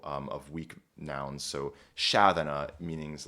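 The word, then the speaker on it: sceaþena: Shadana is how this word is pronounced and then thratum is how this word is pronounced.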